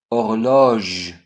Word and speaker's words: horloge: H is always silent, but actually there are two kinds of H, silent H and aspirated H. We don't pronounce either, but there is a difference. If there is silent H, we have elision, so we put apostrophe. Instead of saying la horloge, we say l'horloge.